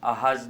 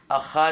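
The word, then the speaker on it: אחז: साउन आता है तो यहां पर हम अहाज नहीं अखा बोलना पड़ता है तो यता से अखा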